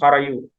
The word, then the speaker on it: Harayu: the river Sarayu is Harayu. Harayu. That is the pronunciation of the river. Just like Saraswati, they call it Harahvaiti. So the river Sarayu, in the Western pronunciation, it is Harayu.